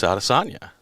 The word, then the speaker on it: Adesanya: Is it Adesanya or is it Adesanya? Well, Izzy clearly told everybody and continued to tell everybody it's Adesanya.